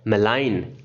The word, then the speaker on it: malign: यहाँ पे जी को प्रोनाउंस नहीं करना है, जी को नहीं बोलना है, और इसका प्रोनाउंसिएशन क्या है? मेलाइन। क्या बोलते हैं इसको? मेलाइन बोलते हैं।